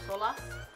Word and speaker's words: Solas: I wanna say this name is Solas, but I feel like you have to say it how, you know, it's spelled, so Solas.